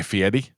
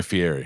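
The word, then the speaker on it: Fieri: Do you know how you actually pronounce his name? Guy Fiieti.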